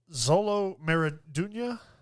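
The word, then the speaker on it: Xolo Maridueña: Uh Zolo Meriduna is how you pronounce it.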